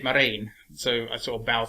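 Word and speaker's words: Marain: i've mentioned as well i think he pronounced it marine so i sort of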